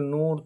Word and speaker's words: नूर: तूर भी नहीं होगा क्योंकि नूर तूर आवाज़ एक ही तरह का है और दोनों मारूफ पढ़ा जाता है।